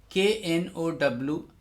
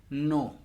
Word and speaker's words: know: In modern English, the verb is know, know. Although there is no pronunciation of K because K is mute, K is silent.